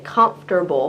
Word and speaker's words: comfortable: people can make is by pronouncing every syllable in the word um a good example is like comfortable uh in English we say comfortable but if you look at it it looks like it says comfortable uh and the